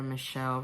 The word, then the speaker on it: Michel: You can look up Father Michelle Rodriguez, it's spelled like Michael.